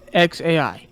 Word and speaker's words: xAI: Yeah, I guess it's just X, like the letter X, like the letter X. Then AI, how you said. Oh wait, so it's X, then AI, like how you said the letter A, then I. So it's just XAI.